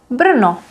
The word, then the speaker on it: Brno: This one is a little tricky because we have R, which is a semi-vowel. It makes a syllable, but it's not a vowel. So you would just say O, Brno, Brno.